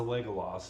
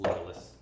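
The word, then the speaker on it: Legolas: his name like that that's how his name is pronounced it's legalist not legal Los no because it sounds like legalist that's what I said legalist yeah you're saying leg but he has legs legalist not legless that looks like mashed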